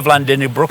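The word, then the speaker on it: Vlaardingerbroek: Eva Vlandingenbroek in Holland has blocked me long ago. I love how you pronounce her last name. Yeah, Eva Vlandingenbroek.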